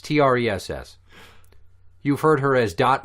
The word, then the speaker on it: Tress: Trey McNeil, or Tress McNeil, depending. I don't know how you fucking pronounce her name. It's Tress.